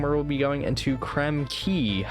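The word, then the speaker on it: Krem Quay: And I will see you guys next time where we'll be going into Creme Key, I believe it's pronounced actually.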